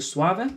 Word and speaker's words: Suave: yeah this one was the suave to give it the proper italian pronunciation a five point three